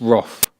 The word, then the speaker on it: wrath: And if you say wrath without pronouncing the th, it sounds like some wooden thing that people float on in the water.